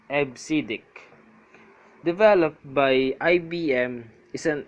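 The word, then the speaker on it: EBCDIC: decimal interchange code or EB cdic pronounced as AB siddik developed by IBM is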